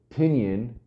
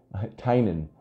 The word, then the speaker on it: Tynan: Tinian, Carolina to Chris. Tinian. No, I fucking, goddamn it. Tinian's the wrong way. Then when he told you how to say it, you kept saying it wrong. Tynan.